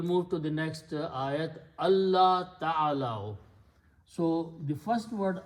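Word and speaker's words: الله: So when you read them together, you do not pronounce the sound of the noon because of the tajweed, but you pronounce the sound of lam twice. So you put a shadda on lam, and you do not pronounce or write this. So it becomes Allah.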